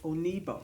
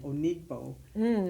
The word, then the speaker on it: Onigbo: know so there's a I was saying onigbo because of the G but she pronounced it and there was no the g is silent or whatever so it helps for